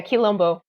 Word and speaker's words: Quilombo: You're Quilombo. Is that correct? Am I pronouncing that right? Yeah, Quilombo.